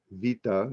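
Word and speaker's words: βήτα: alpha or ranus Riel beta or Vita is proper Greek pronounciation uh orionis Arabic names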